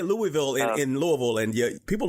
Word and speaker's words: Louisville: with Simon realy in Louisville Kentucky am I pronouncing it right David Louisville that is correct you got it I could tell you talk to someone here before oh yeah I've been corrected before you say Louisville in Louisville and you people look at you